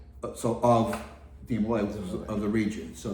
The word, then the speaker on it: de Molay: Um there's a couple of different pronunciations of it. Okay. Because in um in French or France at the time said like DeMolay. Right, he was Jacques DeMolay.